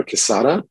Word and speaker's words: Quezada: My name is Quezada.